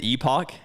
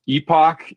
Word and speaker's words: Epoch: People are um they say Epic Outdoors, and that's totally fine. That's that's how most of the population says it. Epoch is a it's it's